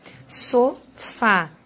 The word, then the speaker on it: sofá: a última sílaba por sílaba tônica sofá essa daqui é a sílaba mais forte a gente conta sempre